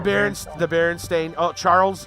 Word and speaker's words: Berenstain: The Berenstain. Oh, Charles. Sorry about that. Yeah. There's tons, dude. Because I remember the reverse for me. Yeah. Because I remember Stain instead of Stein.